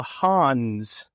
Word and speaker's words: Han: as the Hans, not Hans Zarkov. Not Hans Gruber. So, like, just a solo Han? Is that what you're saying? No, that's pronounced Han.